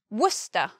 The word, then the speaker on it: Worcester: So it's much easier to pronounce than it is to spell that word. Next we have Worcester.